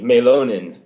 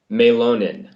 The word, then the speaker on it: Mielonen: So, it's that Finnish thing, Mielonen. Mielonen.